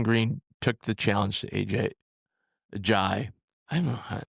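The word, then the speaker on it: Ajayi: And then Jason Green took the challenge to AJ Jai. I don't know. Everybody pronounces differently, but it's a Jai.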